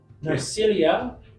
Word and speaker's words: Narcilia: Her name, whenever you're ready, Is spelled Yep. Narcilia, Narcilia.